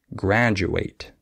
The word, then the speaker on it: graduate: easy to fix also certain letter combinations like the TU can be pronounced CH sometimes like situation and du can be with a J sound like graduate okay uh or sometimes